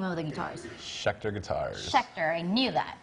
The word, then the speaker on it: Schecter: How do you pronounce the name of the guitars? Schecter Guitars.